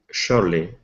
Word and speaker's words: surely: so it's sure surely surely so in this chart that s is actually an sh sound surely okay very good